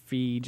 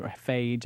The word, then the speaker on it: Feige: Yeah, they said they're not getting into specifics, but the Kevin Feige, I'm hoping Feige, I don't know if I'm pronouncing his name it's right. Feige, actually. Feige, okay, he's the Marvel Studios president.